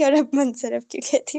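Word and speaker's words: منصرف: अराब लगाए हुए हैं ठीक है मैंने गलत प्रोनाउंस किया था गैर मुनसरफ होगा मीम के ऊपर पेश नून पे जजम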